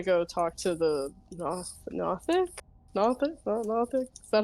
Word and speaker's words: Nothic: Nothic. Is that how you say it? Yes. So as you make your way over to the Nothic, it's just Gothic with an N instead of a Oh, U.